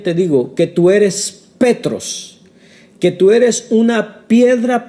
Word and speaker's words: petros: Pedro la palabra original que aquí habla es petros que se escribe P E t r o s petros que significa esa palabra petros significa piedra